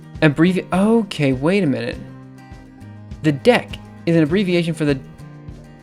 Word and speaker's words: deque: I keep pronouncing Python's DQ as dequeur. It's pronounced dec.